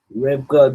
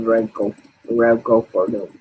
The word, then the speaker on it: Remco Purdue: I got his name wrong, and when I said it the first time, his name is Remco Purdue.